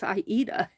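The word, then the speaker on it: Aida: uh I a cloth some people call it Ada cloth uh if you're in the needle work indust or area and have a lot of needle work friends you learn very quickly that the correct pronunciation is iita because I I got caught there but uh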